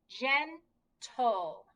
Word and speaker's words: gentle: So we have a G and an E, so we know it's going to be the J, the soft G. So we have gentle.